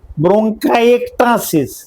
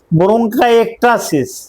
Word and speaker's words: ব্রঙ্কাইএক্টাসিস: উচ্চারণটা আমি আবার বলছি, ব্রঙ্কাইএক্টাসিস। উচ্চারণটা এভাবে হবে, আমি আবার বলছি, ব্রঙ্কাইএক্টাসিস।